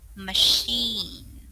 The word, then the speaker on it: machine: We read it as sh. So we say machine.